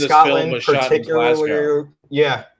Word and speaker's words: Glasgow: Never say Glasgow. It's Glasgow. Glasgow. Glasgow. Glasgow. As in, just go.